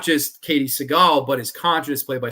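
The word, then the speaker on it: Sagal: You have Katie Siegel in this, or Katie Seagal, I guess is how you really pronounce it, from like Married with Children.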